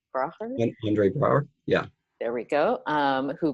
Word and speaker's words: Andre Braugher: him, was, and I'm going to say his name wrong, but Andre Braugher? Andre Braugher, yeah.